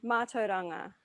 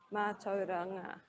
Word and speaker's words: mātauranga: lot, and partly because it's got the AU consonant blend, a rolled R, and an NG consonant blend in it.